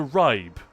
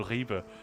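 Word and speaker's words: Ribe: you ever been to Rybe and all this kind of stuff. I hope he'll find that funny. There's a town called Reeba, which is spelled R I B E.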